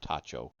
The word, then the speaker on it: Tajo: Tat tacho pron it says pronounced tacho spelled t a j o uh which was a